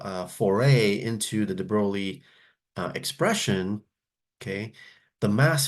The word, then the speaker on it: de Broglie: we calculate is known as the de broi wavelength or de brogi however you want to pronounce it so let's take a